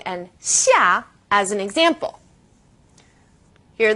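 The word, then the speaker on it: 下: Now this sound is somewhere in the middle of SH and S.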